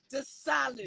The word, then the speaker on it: Desalu: Desalu.